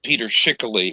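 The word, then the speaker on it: Peter Schickele: two silent running and rejoicing the sun okay pronounced peter schickely and he is a uh he is somebody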